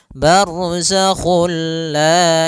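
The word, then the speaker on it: بَرْزَخٌ لَا: masuk barzak kulla dan dia bila gunah berarti tidak boleh disertai dengan gunah tidak boleh ada penahanan tidak boleh barzakul la enggak boleh tapi langsung saja barzakhul la yabian Kemudian pada lafal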